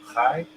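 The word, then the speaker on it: חי: Um, example I would use is you know what chai mean? Chai in Hebrew, chai.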